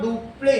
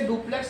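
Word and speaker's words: Dupleix: तो इसमें बताओ, डुप्ले, हिंदी में इसे डुप्लेक्स नहीं बोला जाता है, हिंदी में डुप्ले बोला जाता है। इसको क्या बोला जाएगा? डुप्ले। आगे की चीज साइलेंट है।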